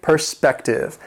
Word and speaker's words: perspective: Number 19, perspective. It has 3 syllables. The stress is on the second syllable, perspective.